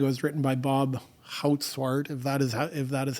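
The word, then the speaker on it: Goudzwaard: I think it was written by Bob Houtswart, if that is how you say it.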